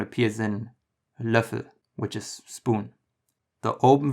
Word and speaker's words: Löffel: The closest in English that I can come up with for this is the sound in certain or learn. Try to say it without the hint of the R that's in there.